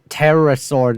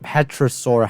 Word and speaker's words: pterosaur: That's pterosaur, not petrosaur.